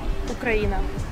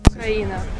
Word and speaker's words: Україна: Ukraina. Ooh, that's... Ukraina.